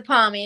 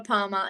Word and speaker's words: parmi: It's a palmy. It's not a palmer. It's a palmy.